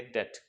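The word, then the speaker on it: debt: B silent होता है, इसे लोग डेप्ट पढ़ते हैं, बट डेप्ट इज a wrong word, आपको कहना है डेट, डेट।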